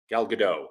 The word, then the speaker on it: Gal Gadot: gadot looks like michaela we got our own gal gada here gal got it gal gal gadot that's how you say it sorry obviously i